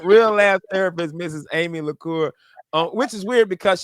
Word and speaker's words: LeCours: Amy LeCours, which is weird because she has an S on her last name, but you don't pronounce it.